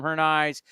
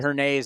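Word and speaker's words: Hernaiz: A hernaise but up here people called him her knives and then Russell Langer the voice of the aviators said her Nays and I went you know what I gotta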